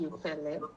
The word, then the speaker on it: Youpele: So it's actually Youpele. So Youpele.